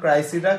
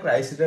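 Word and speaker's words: Criseyde: ঠিক করেন এটা উচ্চারণ ক্রাইসিডা ক্রাইসিডা লিখছে চশার ট্রইলেস এন্ড ক্রেসিডাই ক্রেসিডা লিখছে আমাদের বড় ভাই শেক্সপিয়ার হ্যাঁ উচ্চারণের ভিন্ন আছে বানানো ভিন্ন এটা ক্রাই এটা হচ্ছে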